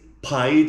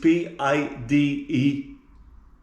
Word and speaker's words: pide: Google, what is pide in Turkish? P-I-D-E. Oh, this came up. We are looking at how to pronounce the name of this Turkish dish.